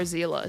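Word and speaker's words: Seele: by the way guys I know a lot of people do not like the way it's pronounced like zela but the only issue is like I don't know in reality really how it should be pronounced I just know that it's zela because the voice actors in this game they literally call her Zila so I've just been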